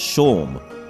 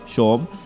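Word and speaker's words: Seam: stuff here about yourself the name seemed pronounced Sean okay Sean and this may it's my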